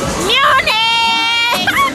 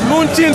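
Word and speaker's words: München: Munich! No, they're saying it wrong. It's Munchin City.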